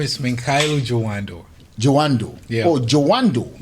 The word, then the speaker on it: Jawandor: Jawandor. Yeah. Oh, Jawandor. Jawandor, like the door.